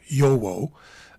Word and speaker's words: Jowo: They usually come with a variety of German nibs, either Schmidt, Bock, or Jowo and Jowo nibs, or Yowo, as one viewer told me to pronounce.